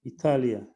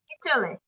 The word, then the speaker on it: Italy: Italy. Italy, that's right. Italy. Italia, it means in Russia or maybe in another language. But in English, we say Italy.